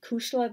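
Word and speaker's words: cuisle: characters calls his girlfriend Cushla Macree, which means pulse of my heart, and it's really spelled C-U-I-S-L-E, so they, I guess, anglicized the spelling so children could pronounce it a little easier.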